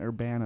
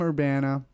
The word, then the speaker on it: Urbana: Urbana. That's how you pronounce it? Urbana-Champaign. Champaign. There you go. Yes, indeed. Big deal. So Indeed. You graduated from Urbana, from U of I Urbana, pre-med.